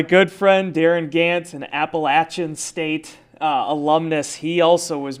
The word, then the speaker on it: Appalachian: But I think what happens in the state of Wisconsin, we're so used to saying A. Yeah. And I think it just rolls off as Appalachian.